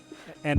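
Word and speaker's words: へ: or like if a um yeah going somewhere and also just to keep in mind with this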